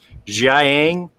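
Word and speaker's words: Jiaying: sure to correctly pronounce jiayiang um in my my review i tend to get very fast and i was shoving those two syllables together making it sound like zhang uh and i know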